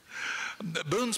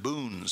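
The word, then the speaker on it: Buhn: They were German Boones, spelled B-U-H-N originally, and Daniel was of English Quaker stock. They were just pronounced the same.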